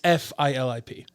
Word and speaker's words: Filip: Your mom and dad. Filip. Filip, Because yeah. in Polish it's Filip. Fill. That's how you spell it. Yeah, ph doesn't make that noise.